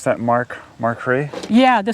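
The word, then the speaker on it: Makhry: here clean so this is how you will pronounce that Mark markray yeah the spelling on this is m-a-k-h-r-y yeah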